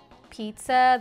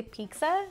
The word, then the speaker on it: pizza: Pizza the wrong way I always say pizza with a kind of like with the K because that's the way Latinos say it right and I didn't know I was saying it wrong this whole my whole life yeah well now I know it's with the tea Pizza you know what I